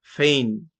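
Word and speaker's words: feign: যেমনটা রিজাইন, rain রাজত্ব, ফেইন। তাহলে আমরা কি পেলাম? যে যখন কোনো ওয়ার্ডের শেষে আইজিএন থাকে তো জি সাইলেন্ট থাকে আর আইজিএন এর সাউন্ডটা হয় আইন।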